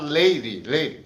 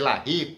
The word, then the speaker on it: Larry: Tem gente que fala Leire, eu prefiro dizer Larry, porque parece pronúncia francesa.